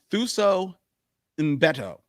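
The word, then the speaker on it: Thuso Mbedu: novel by Colson Whitehead, starring Thuso Mbutu. I said it wrong, and I was practicing it. Thuso Mbeto. That's it.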